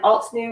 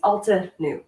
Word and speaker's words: Altenew: and alt new or altenew how do you guys say that you i think it's ulta new yeah you pronounce in there i asked them that and that was what it was um you know they